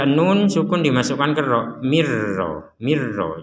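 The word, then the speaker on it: مِن رَّبِّهِۦ: Jadi jangan dibaca jelas. Kalau dibaca jelas min ro. Nah, sekarang yang jelas ini kita masukkan ke ro sehingga sudah tidak dibaca jelas lagi. Dan yang kedua yang perlu diperhatikan tanpa dengung. Kalau ini dimasukkan pakai dengung, di sini nggak ada dengung, langsung mirro. Nah, jangan sampai ada dengung, mirro, nggak boleh.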